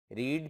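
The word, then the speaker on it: read: भारत दोबारा पढ़िए students रीड की फॉर्म के साथ जो की यहां सेकंड फॉर्म में इसे रेड प्रनंसे करते हैं स्पेलिंग अब भारत दोबारा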